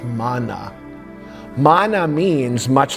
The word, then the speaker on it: manna: No, what that word, we say manna, the proper pronunciation is manna.